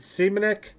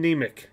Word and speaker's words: Nemec: And this is, is it Semenik? Oh, Nemec. Simon Nemec.